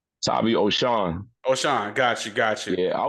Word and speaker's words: Tavi Oshon: Tavi Oshon, right? Tavi Oshon.